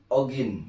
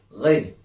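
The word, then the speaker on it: غين: kita sebut ogin ya. Biasa kita sering menyebut ogin atau dalam pelafalan tajwid disebut ghain. Ingat, huruf gha dalam bahasa Arab berbeda dengan huruf ag dalam bahasa Indonesia.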